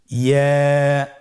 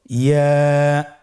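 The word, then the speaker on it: ياء: ইয়া হরফটি উচ্চারণের ক্ষেত্রে বারিক হবে এবং 1 আলিফ টেনে পড়তে হবে। ইয়া। আবার বলুন ইয়া।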